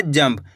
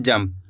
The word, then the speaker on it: जंप: जाम अनुस्वार की मात्रा जम, प तो मिलकर बन जाएगा जंप। अपन इसको कैसे पढ़ेंगे, जंप, यानी कि आधा माँ का उच्चारण निकल रहा है। इस तरीके से अपन इसको पढ़ रहे हैं, जंप, आधा माँ का उच्चारण निकल रहा है, जंप। इस बिंदी का उच्चारण आधा माँ के रूप में निकल रहा है।